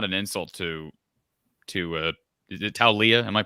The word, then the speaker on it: Taulia: And I do think, and this is not an insult to is it Taulia? Am I pronouncing that correctly? Talia.